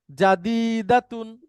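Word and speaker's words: جديدة: জাদিদুন এটার মহিলাবাচক হচ্ছে জাদিদাতুন উচ্চারণ করেন জাদিদাতুন না জাদিদাতুন জাদিদাতুন জাদিদাতুন আবার বলেন জাদিদাতুন না জাকির হোসাইন আপনি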